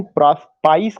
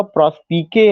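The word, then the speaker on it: Prospice: कुछ लोग उसका प्रोनाउंसिएशन प्रॉस्पाइस करेंगे, प्रॉस्पाइस उसका प्रोनाउंसिएशन नहीं है, उसका प्रॉस्पिके है।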